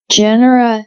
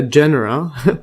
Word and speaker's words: genera: genre or jera let's see how this is pronounced and Genera and yeah Genera and 300,000 known species uh they are seed